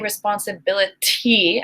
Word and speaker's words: responsibility: That's not the pronunciation. It's bottle. Okay? And other examples, thank you for providing them for me. Responsibility. I do not say responsibility.